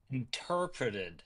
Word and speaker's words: interpreted: Interpreted. There we go. How many syllables? interpret or question mark. Definitely four. Yeah. Yeah. Four. Four. Four. Four with no question mark.